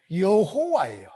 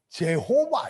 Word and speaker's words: 여호와: 호와 여호와가 되는 거 그런데이 서양의 코들은이 이형 발음여 발음을 할 줄 알아요 몰라요여 발음을 우리여 발음을 할 줄 몰라가 그걸 다 제의로 발음해요 그래서 예수님이 그거를 예수님을 발음을 못해가 스라고 해 여호 거 히브리어 그대로 발음하게 되 여호와에 근데 여자를 발을 못하니까 제호바 이래요 이해 되십니까 이해 됐어요